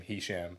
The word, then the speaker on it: Hesham: So, I made it Americanized and became hisham.